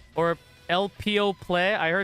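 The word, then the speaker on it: Elpeo Ple: Yeah, I heard it's pronounced El Puru Puru, so I'm just gonna go with that, but it's not spelled that way.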